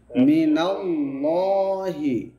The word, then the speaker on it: من الله: তাহলে এখানে আল্লাহ শব্দের আগের হরফে কি আছে? জবর আছে। তার মানে আল্লাহ শব্দের উচ্চারণটা কেমন হবে? মোটা উচ্চারণ হবে, ভারী উচ্চারণ হবে।